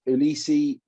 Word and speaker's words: Uilisi: I see you Elise elisee Willis Hala Hollow yeah we'll see Willie c yeah oh nice I like that pal so you the U is pronounced as a w so oh okay I